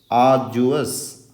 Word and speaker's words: arduous: Please remember, ಆಜುವಸ್ means ARDUOUS, arduous. How to pronounce it? Arduous. R is silent and D is pronounced as J.